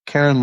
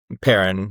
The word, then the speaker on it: Perrin: Karen Larton? Is that how you pronounce it? Perrin with a P.